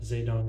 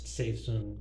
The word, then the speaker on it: Zedong: You kind of pronounce it wrong. It's not Zedong, it's Seizung or something like that.